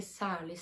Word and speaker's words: særlig: W sali też słyszycie, że te r znika tak samo jak w poprzednim filmiku w halvåret.